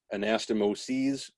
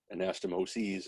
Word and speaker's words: anastomoses: and by the way anastomosis sis is singular anastomoses where it's ses that would be plural so if if it sounds like i'm crazy because they keep changing the pronunciation there's a reason for that anastomosis is single and s anastomoses is plural so there are a